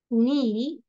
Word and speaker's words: knee: Again, I am saying knee, not, need, now, no, then knock, knife, night, neck, new, knuckle, knob.